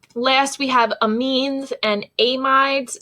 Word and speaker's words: amides: we have amines and amides some people pronounce these a mids just in case you